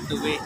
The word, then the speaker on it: Tuy: Tuwi ba bang ang pronunciation? Bayan po namin tuwi.